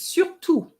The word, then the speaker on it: surtout: Then you said surtout is surtout. Surtout means especially, okay? Surtout. So you don't pronounce the T.